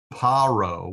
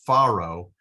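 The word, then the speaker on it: פרעה: So here in all the other cases we've pronounced it Paro with a dagish.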